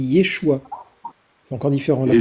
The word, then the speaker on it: Yeshua: Oui, mais là c'est Yoshua, mais Jésus ça se dit Yeshua.